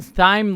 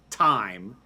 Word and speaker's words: thyme: T H Y is just pronounced thyme.